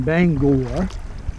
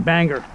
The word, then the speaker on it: Bangor: from where we live in Bangor I said it right didn't I so when I first moved here Jennifer and I first started dating which was back in October I was always saying banger banger and she's like Keith